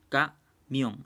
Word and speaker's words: camión: Por ejemplo, la palabra camión se separa camión en dos sílabas. Entonces, y si se dan cuenta, la mayor fuerza de voz está en la sílaba mión.